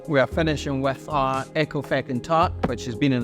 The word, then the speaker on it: Ecclefechan: Ecclefechan. Ecclefechan. Ecclefechan, yeah. Ecclefechan. It sounds like a swear word.